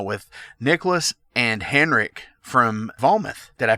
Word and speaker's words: Vometh: It's pronounced Vometh.